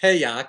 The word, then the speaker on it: Hayek: Oh, I think it's pronounced Hayek, but okay.